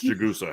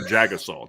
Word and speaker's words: Jagusa: The official pronunciation for Irish Breakdown and Charles Jagusa has changed. Put out a statement. Yeah. It is no longer Jagasaw.